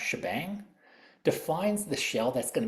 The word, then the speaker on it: shebang: the first line um the hash followed by the exclamation point is usually pronoun pronounced shebang defines the shell that's